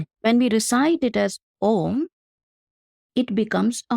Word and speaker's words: Aum: When we recite it as Om, it becomes a monosyllable. When we recite it as Aum, it becomes a diphthong. So there, A and U, both are pretty easily discernible to the hearing.